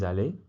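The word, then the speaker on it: allée: Okay, so if you're a girl, you will say je suis allé, pronounced exactly the same, but you've actually added this extra e.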